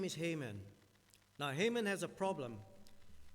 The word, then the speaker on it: Haman: But we get here in chapter 3, all these things King Ahasuerus promoted Haman. We say Haman, but sometimes it's pronounced Haman, the son of Hammedatha,